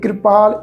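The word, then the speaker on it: ਕ੍ਰਿਪਾਲ: न कृपाल नहीं बनना कके न कके पैर अधा रार रारे न सहारी की मात्रा लाके प्रोनाउंस होगी क्योंकि ख्याल रखो जद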